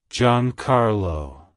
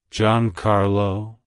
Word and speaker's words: Giancarlo: baby boys with Italian origin and meaning it's pronounced as John Carlo John Carlo John Carlo to pronounce it correctly emphasize the e e